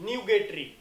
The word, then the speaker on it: nugatory: Come to the next 13th, न्यूगेटरी। Pronunciation is what, न्यूगेटरी, right. सो न्यूगेटरी से हम क्या बता सकते हैं, न्यूगेटरी is what, basically it's rapture, rough, tardy और फ्यूटाइल।